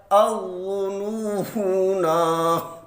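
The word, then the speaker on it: الظنونا: میں ہے، اظنون۔ لیکن جب ہم یہاں پہ وقف کریں گے تو پھر یہ پڑھا جائے گا اظنون، اظنون۔ یہ ہے پارہ نمبر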